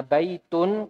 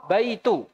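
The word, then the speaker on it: بيت: Tuliskan yang salah ya ketika tidak ada alif lam Nya maka seseorang wajib membacanya baik tune ya tidak boleh baik baitun tidak ada alif lam nya kok dibacanya bayi itu enggak boleh ya ini salah ini Hai kemudian albaitu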